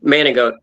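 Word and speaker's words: Manigault: name manic goat but g is how it's spelled but it's frenched in Manic manot and the joke is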